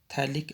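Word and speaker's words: phthalic: अब एक रिएक्शन बेटा थैलिक एनहाइड्राइड की है, इसमें पीएच साइलेंट है, थैलिक एनहाइड्राइड।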